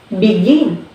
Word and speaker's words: begin: And here also we have begin. So we stress from begin.